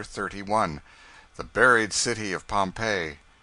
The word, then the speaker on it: Pompeii: They pronounce it Pompeii.